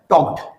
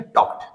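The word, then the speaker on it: talked: my parents देखिए के के आखिर में जब डी लगता है तो ड का उच्चारण ट हो जाता है टॉड आप नहीं बोले आपको बोलना चाहिए टक्ड टक्ड आई टॉक टू माय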